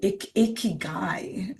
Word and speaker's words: Ikigai: But the reason to talk about the Ikigai, we can also say Ikigai. So we have to learn to pronounce.